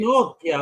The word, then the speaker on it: Pinochia: Unpopular Tales, Volume II, Pinochia. Is that how it's pronounced? Yeah. It's Pinocchio, but just put an A there. That's it. We're done. Easy. Pinochia, wepa.